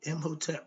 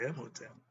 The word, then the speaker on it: Imhotep: Now, when I say Imhotep, when I say Hotep, I spell it with the He.